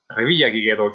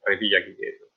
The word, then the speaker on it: Revillagigedo: If you do travel there and you speak to locals, make sure to say Revillagigedo. Try to pronounce it correctly, because they're quite picky about the name of their archipelago, especially since Socorro is actually one of the 5 islands.